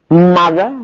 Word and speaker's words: mother: mother بالاو mother، لكن بننطقها بالساوند ده.